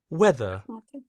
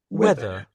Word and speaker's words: whether: Basically the H the first H is silent. Let's listen to how they say it anyway. Weather. Weather.